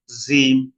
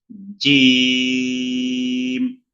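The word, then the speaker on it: جيم: বাতাস বের করা যাবে না, অনেকে এটাকে পাতলা করে বলে জিম জিম এইভাবে বলে, এটা ভুল। সহি হলো জিম জিম জিম। ওটা হবে, শক্ত করে হবে, বাতাস বের হবে না।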